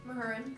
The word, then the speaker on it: Mahurin: Mahurin. Mahurin? She has it on her bio. Oh, How to pronounce it.